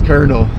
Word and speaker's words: colonel: The correct answer is Colonel.